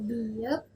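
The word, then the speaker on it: 비읍: Terus di huruf yang keenam, kita punya biep, di awal sebagai B dan di akhir sebagai P. Biep.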